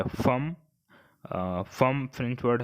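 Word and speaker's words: femme: और दूसरा वर्ड है वुमन, यानी महिला को फ्रेंच में क्या बोलते हैं, तो इसके लिए वर्ड है फम।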